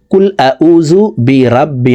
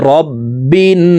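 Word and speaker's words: بِرَبِّ: জন্য চেষ্টা করুন রববিন আমরা অনেকেই এভাবে অশুদ্ধ পড়ি কুবিরাব্বি নাস এভাবে যদি পড়ি তাহলে নামাজ হবে না নামাজ ভেঙ্গে যাবে এখন শুদ্ধ করে শিখতে হবে রববিন বিন এখানে ওয়াজিব গুনা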